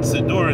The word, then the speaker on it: siddur: there so-called sidor and i'll pronounce it siddur instead of sinner because it's not a